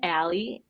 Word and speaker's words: Alley: they can follow you I am Ally in Raleigh Al l l e y in Raleigh and it was just a nice life coincidence that my name rhymes with my city it has served me